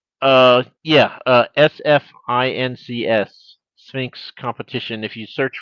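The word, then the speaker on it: SFINCS: It's pronounced Sphinx, but it's SF, not SP.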